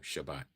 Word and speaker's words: Shabbat: That is the pronunciation in Hebrew, Shabbat.